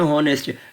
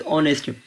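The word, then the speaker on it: honest: अब हमारे पास एक वर्ड है हॉनेस्ट, हम इसे कहते हैं हॉनेस्ट, मगर इट्स प्रोनाउंसिएशन इज़ ऑनेस्ट, तो हम ये कह सकते हैं एन ऑनेस्ट में।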